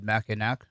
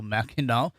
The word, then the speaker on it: Mackinac: president of the mackinac i put that up there because if you're like me i would have pronounced it mackinac so mackinaw center for public policy in michigan where